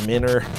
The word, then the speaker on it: Miner: Fine, it's pronounced Minner.